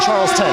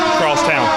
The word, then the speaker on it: Charlestown: Is it Charlestown or Charleston? Charlestown. Charlestown. Excuse me.